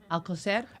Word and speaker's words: Alcocer: Alcocer. Alcocer made the remarks a week and a half